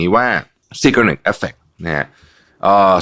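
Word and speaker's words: Zeigarnik: นี้ นะ ครับ เรา เรียก สิ่ง นี้ ว่า securate Effect นะ ฮะ เอ่อ สะกด z e i g a r n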